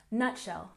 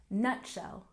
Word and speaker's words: nutshell: a look at pronunciation nutshell make sure to stress the first syllable nutshell nutshell good and number three